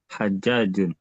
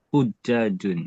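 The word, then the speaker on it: حُجّاج: Hajjajun. Bidommil ha. H-nya didomahkan. Hujjajun. Hujjaj.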